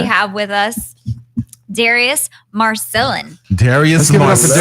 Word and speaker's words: Marcellin: It's Marcellin.